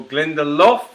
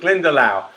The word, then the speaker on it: Glendalough: we were looking for glendale glendale uh or glendaloff i have heard people pronounce it as well but glendalough and uh we and give yourself a point